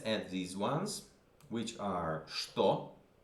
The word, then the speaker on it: что: Let's add these ones, which are что. This is ч, but you pronounce it sh.